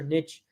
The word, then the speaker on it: niche: niche skill set right of a niche or niche depending on how you pronounce it uh skill set that's